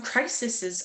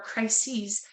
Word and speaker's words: crises: But I'd love for you to share what you feel some crisises are or crises as it's spelled with the e s for plural.